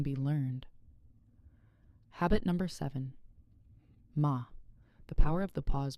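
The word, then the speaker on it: 間: In Japanese aesthetics, there's a concept called ma. Pronounced ma.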